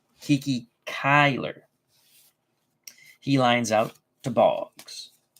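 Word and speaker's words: Cuyler: the I and the L R thank you Kyler I knew I wasn't pronouncing his name right Kiki Kyler he lines out to bogs Hershey are doing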